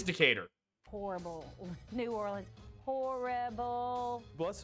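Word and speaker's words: Decatur: New Orleans mentality in in Alabama that is decator but this is probably decer the why is it gonna be some the the cat your the cat your the cat the decahedron oh there's a decar Alabama and in New Orleans the street is called decar oh so it is decater horrible New Orleans horrible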